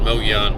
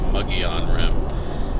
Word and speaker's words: Mogollon Rim: I used to pronounce it Mogollon, but I have since learned that it's pronounced Mogollon Rim.